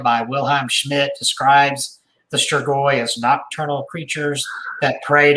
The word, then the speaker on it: Strigoi: Striggery. Striggery. Well, there's not an R at the end. Oh, Strigoi.